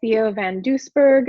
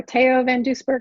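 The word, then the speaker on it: Theo van Doesburg: one's from the Netherlands founded by Theo van Duisburg or teo van Duisburg I think it's actually how you say it and again modernist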